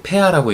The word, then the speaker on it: pH: 표기하는 단위가 pH, 독일어로 폐하라고 읽는데 순수한 물의 폐하가 7.0으로 산과 알칼리의 비율이 같아요.